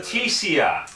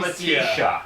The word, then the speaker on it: Leticia: Leticia, not Letitia.